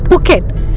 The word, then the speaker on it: Phuket: It was named And it's not after and it's not Phuket also, it's Phuket. And one more Yeah. and one more where we're going tomorrow. It's not Fifi Island, it's PP Island. It's too much. Here basically H is not pronounced.